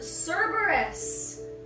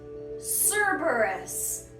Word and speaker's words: Cerberus: Up next with the legendaries, we have Cerberus. Cerberus. Oh wow, Cerberus is actually a demon dog.